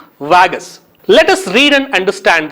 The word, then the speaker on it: Vargas: in avenida presidente vargas here r is silent we should pronounce it vagus let us read and